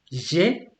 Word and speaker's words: j'ai: So basically, the letter E in French, especially when you don't have that symbol over it, you're gonna drop it many times, especially if you have a vowel next to it.